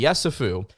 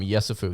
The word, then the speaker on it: Yessoufou: I think that's Tunde Yessoufou is how you pronounce his last name.